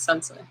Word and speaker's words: sensei: the youtube laws since sensei not sensai the way i say words is funny too because there are so many different ways of pronouncing words you know it's sensei though that's how uh most of the world pronounces it sensei uh but yeah it's